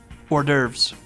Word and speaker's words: hors d'oeuvres: Is that actually how you say it? It's an order. What did you say? I should know this too. Hors d'oeuvres. Or some would say whores devours.